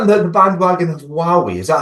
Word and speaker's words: Huawei: Well, were you not in the bandwagon of Huawei? Is that how you pronounce them?